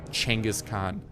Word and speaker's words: Chinggis Khaan: and someone set out Chinggis Khaan is that how you pronounce it just come on I call you out on your because that is actually a hundred percent how you do pronounce and I'm not being sarcastic in any way during this very sentence that is actually one of the correct pronunciations Chinggis Khaan so yeah you can